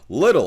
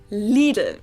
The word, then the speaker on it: Lidl: america pronounce it little little obviously or literal or whatever americans i know say something like little while the correct german pronunciation is leaden it might be a